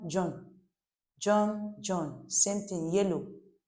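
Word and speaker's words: jaune: They maintain the same spelling and pronunciation for both masculine and feminine. So, it's very important. Then the last here, John. John.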